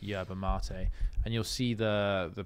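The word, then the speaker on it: yerba mate: r b a and then mate but it's pronounced yba M and you'll see the the picture of it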